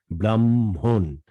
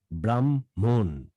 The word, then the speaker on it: ব্রাহ্মণ: হ্যাঁ, ব্রাহ্মণ অর্থাৎ ম 2বার উচ্চারিত হবে, দ্বিতীয়বার উচ্চারিত ম এর সাথে হ মিশ্রিত ধ্বনি আসবে, MHON, ব্রাহ্মণ ব্রাহ্মণ ব্রাহ্মণ।